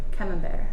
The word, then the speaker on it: camembert: the best for last camembert not camera break what was that okay